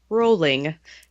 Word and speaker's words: Rowling: I'm going to do my mistress of correction thing, and it is pronounced rolling, like bowling.